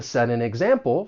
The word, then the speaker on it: set an example: It's going to sound more like a soft D.